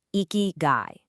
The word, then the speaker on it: ikigai: And that philosophy has a name, eeky guy. That's pronounced eeky guy.